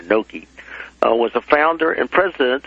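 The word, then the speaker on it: Knoke: And it, at the first of this chapter, I indicate that William, I guess you pronounce it Noke, K-N-O-K-E, or Noke, was a founder and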